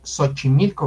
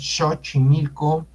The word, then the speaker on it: Xochimilco: El sonido X es el sonido sh, shashishusho. Entonces, pues no hay que usar la X porque no es una incógnita, es SH. Por ejemplo, ese se pronuncia en shola, en palabra en inglés short. ¿Qué otras palabras tenemos como sonido sh? Xochimilco. No decimos Xochimilco, ¿verdad?